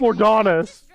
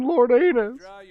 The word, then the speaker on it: Lordonis: an adventure okay and it's pronounced lord honest not even not even lord anus nope bottle slinger hey